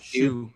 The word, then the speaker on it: HSU: Yeah, HSU? Shoe.